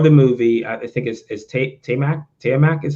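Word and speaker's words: Taimak: So the star of the movie, I think is Tiamat is how you pronounce his name? Yeah, Tiamat.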